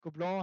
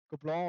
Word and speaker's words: Gobelins: Gobelin heißt die, die wird Gobelins geschrieben, oder so in Deutsch ausgesprochen. Goblin auf jeden Fall in Französisch.